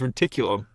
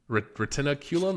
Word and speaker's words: retinaculum: of this torn medial retinaculum allowing dislocation of the posterior tibus tendon in his left leg I thought it was reticulum no retinaculum it's spelled different I know the word